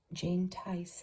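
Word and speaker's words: Tise: Jane Tice, I think you say her name. T-I-S-E.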